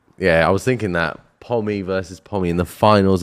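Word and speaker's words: Pomme: prisoners of mother England P pronounced pom it's p o m e it's one M it's a singular M it's double M it means Apple in French that's why he's gone for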